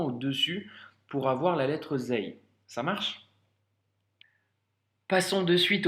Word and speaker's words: ز: C'est comme le Z en français, donc c'est le son Z.